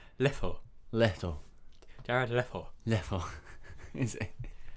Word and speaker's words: Leto: I think it's pronounced Leto.